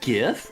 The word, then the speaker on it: GIF: pronounce g is it gif or is it gif well smile fires with $30 says GIF is pronounced with the G in guitar GIF please put this